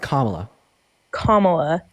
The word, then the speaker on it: Kamala: sorry my bad camela her name is pronounced comma comma okay okay plyy please